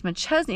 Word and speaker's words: McChesney: Fred McChesney, his last name is McChesney. It's like McChesney Park. It's spelled the same too.